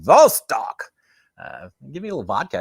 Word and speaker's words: Vostok: You can say it like a Russian accent, Vostok.